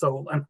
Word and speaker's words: Solon: a quick question you I thought that the name of the street was Solen you pronounced it Solon so I'm just kind of curious because I have half of my relatives live in a city called Solen it's a suburb of Cleveland and it's pronounced Solen over there for sure on from my